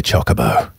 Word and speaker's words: chocobo: I say chocobo. It's the only correct answer.